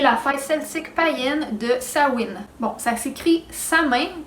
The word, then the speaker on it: Samhain: de laurent et la faille sismique païenne de samhain bon sac si crise amène comme comme ça mais ça se prononce sa wind cette femme c'est la première des quatre grandes